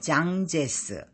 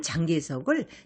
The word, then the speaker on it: 장제스: 중국을 다시 통일하였다 국민당의 장제스 우리식 발음은 장개석을 타이완으로 밀어낸 마오쩌뚱 즉